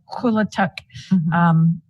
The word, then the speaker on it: Quilituck: It's pronounced Quilituck. Sounds like a K, but it's spelled with a Q.